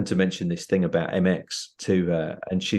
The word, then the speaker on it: Emecz: usually I say well just think of an m and an X and then you're getting close so MX and when um we